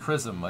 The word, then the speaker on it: XRISM: a flight we're good xrism is pronounced Chism according to Jonathan McDow I don't know how they got a C noise from an X but sounds like English